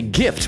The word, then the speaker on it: GIF: Gift stands for graphics interchange format, not giraffic. So, it's hard. It's a hard G. That's my hill to die. I agree with you, Magpie. I don't care what the inventor of the gift says.